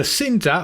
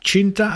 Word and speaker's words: Cinta: up my favorite bow the cinta or as people pointed out you're supposed to actually pronounce it Chinta apparently the Chinta is nice